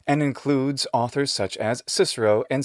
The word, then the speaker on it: Cicero: comments something like this if you really wanted to use the classical pronunciation you would say kikero and kaisa this drives me a little